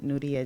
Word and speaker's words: Nuria: guess Nia okay hi my name is um nudia n nudia well you can say Nia because it's spelled n u r i a so a